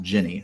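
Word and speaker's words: Gini: uh jenny her name her name is spelled g-i-n-i and it's pronounced jenny so jenny von carver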